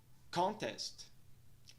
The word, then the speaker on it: contest: Já na segunda palavra, contest, nós temos o som E invertido na primeira sílaba, som que soa como a. A pronúncia da primeira sílaba fica então con. Na segunda sílaba, nós temos o som E curva, que soa como E. A pronúncia da segunda sílaba é então test. Nós temos um apóstrofe logo após a segunda sílaba, indicando que essa sílaba é mais alongada e pronunciada em um tom mais alto do que a primeira.